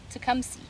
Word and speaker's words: Tecumseh: come see here and this is how you spell it but it's pronounced to come see nice guy decent decent